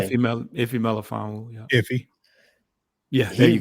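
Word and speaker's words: Melifonwu: You said Melifon, pronounce his name? Iffy Melifon.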